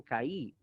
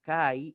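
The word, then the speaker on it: καί: Por lo tanto, lo correcto es el kai y no caí.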